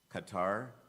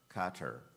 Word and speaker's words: Qatar: contest number 84 Emerson your word has two correct pronunciations Qatar Qatar capital Q a t